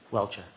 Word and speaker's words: Welcher: How do you pronounce his name, Mr. Brennan? Welcher.